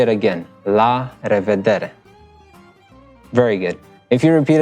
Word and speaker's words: la revedere: And then the third one is la revedere. Now this is a mouthful, especially for Asian people. It's really a mouthful. So I'm gonna say it again. La revedere.